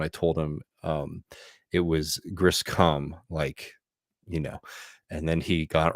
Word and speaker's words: Griscom: My last name is Griscom.